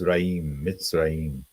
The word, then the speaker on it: Mitzraim: it means and then misraim is Hebrew for Egypt you can see at the bottom there MIT I should say yeah yeah because in this you see how it's like this is again this is that con this is the ant the the V becomes the ant and then mitz mitzraim so that's um Egypt